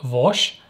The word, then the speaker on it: Vass: of you that don't know much about it vas which actually apparently it's pronounced something like vosh with a much deeper ash h at the